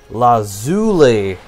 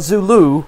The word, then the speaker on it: lazuli: The way you pronounce lapis lazuli... well, that's the way you pronounce it. So, yeah, lazuli. Not Zulu. Lapis lazuli. It's lazuli.